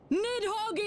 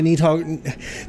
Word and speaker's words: Nidhogg: reason as to why Nidhogg, they say Nidhogg, I know it's Nidhogg, that's the way I think you're supposed to pronounce it.